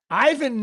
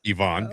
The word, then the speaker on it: Ivan: Ivan Nova, you remember Ivan Nova? Ivonne, but go ahead.